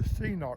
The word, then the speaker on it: Cnoc: very well and it's called the senoc bag it's spelled cnoc and you can do